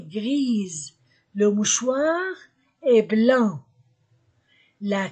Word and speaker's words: grise: gris la clé est grise grise j'ajoute E et S entre de voyelles Z la clé est grise le mouchoir est blanc